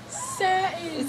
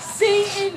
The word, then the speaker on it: satin: Satin. Satin, okay. Satan is a devil worship.